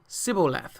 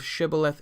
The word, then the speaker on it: Shibboleth: the four mites and he said Sybil left instead of Shibboleth civil death for he could not frame to pronounce it right okay so there was